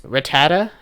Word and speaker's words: Rattata: that's a hot take or not but six Rattata that's how you say it when I go